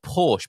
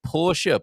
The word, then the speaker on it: Porsche: Not Porsche, but Porsche.